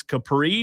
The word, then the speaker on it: Capri: I had a friend of mine text me in Gaffne, and he said it is Capri, just like Capri's Italian restaurant.